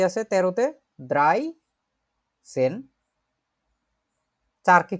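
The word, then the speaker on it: dreizehn: 11কে বলে হচ্ছে এলফ, 12কে বলে সোলফ, 13কে বলে দ্রাইসেন, 14কে বলে ফিয়ারসেন, 15কে বলে ফুমসেন।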